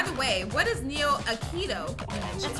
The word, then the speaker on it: Aikido: I said it wrong. Aikido.